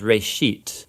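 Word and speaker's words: רֵאשִׁית: a Hebrew word uh it's pronounced Ray sheet and it just means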